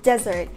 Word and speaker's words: desert: Meanwhile, desert is pronounced ˈdezərt, the stress is on the first syllable.